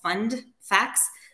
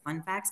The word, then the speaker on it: fund facts: we call them uh they're called fund facts always have to pronounce the d because it sounds like fun facts but it's like the